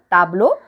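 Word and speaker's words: tableaux: will become tableau again the pronunciation remains the same tableau but while writing instead of extra s we add extra x when we have to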